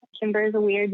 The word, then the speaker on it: Cimber: He's like, hey, you need to contact Cimber.